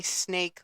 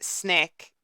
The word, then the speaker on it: SNEK: Now, when pronouncing that, I literally want to say snake like so bad. Um, but it is pronounced SNEK, like as in like the word check, and then just put SN in front of it.